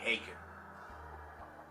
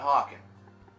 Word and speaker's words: Haken: Affinity by Haken. Not Haken. Love the name a lot more, but I've been saying it wrong for a long time.